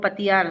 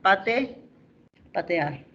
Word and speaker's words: patear: Habrá que recordar el verbo es patear o patear, ¿no? Entonces ahí el verbo es patear. ¿Qué pasó? Aquí la I, esta de acá. En el habla, esa I se ha convertido en ¿qué? En E. Revisando, pues, no existe el verbo patear, sino patear.